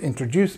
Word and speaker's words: introduce: Pronunciation wise, this word introduce just to make sure you get it right. If you say, "Let me introduce myself or it's time to introduce myself." It's introduce. Juice. Juice.